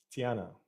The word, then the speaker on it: Tiana: Tiana is how you pronounce it.